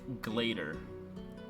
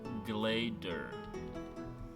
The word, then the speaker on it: Glaedr: Mine, Glader. Glader.